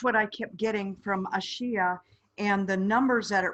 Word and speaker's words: Ashia: no i don't okay what i have what i'm hearing is a shia i believe that's correct okay a-s-h-i-a and her name